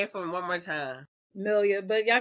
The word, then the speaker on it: Melia: Melia, but y'all call me Yeah.